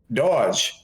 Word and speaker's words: Dorge: It is actually Dorge. Dorge? But it's pronounced Dodge.